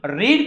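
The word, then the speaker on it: read: book is not being रीड का past participle बताइए रीड का पास्ट पार्टिसिपल क्या है रेड स्पेलिंग वही रहेगा सिर्फ उसका प्रोनंसिएशन चेंज होगा रीड रेड रेड a book is नॉट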